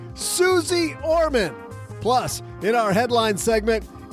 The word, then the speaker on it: Suze Orman: welcome to the basement Suz or Main. What? What do you mean that's not how you pronounce it? Oh, uh, Suzy. Okay, got it. Got it. As I was saying, Suzy Orman.